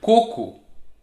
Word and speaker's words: coco: but no there's also for example the word coco coconut and it's totally different from koko which